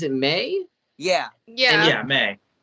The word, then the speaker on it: Mei: Yeah, May.